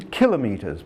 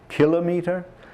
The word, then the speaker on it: kilometres: hour by the way notice how I pronounce that kilometres not kilometer kilometres is the correct pronunciation and if you pronounce it that way you'll be maybe one in a thousand to do a correct pronunciation of that term deci is a multiplier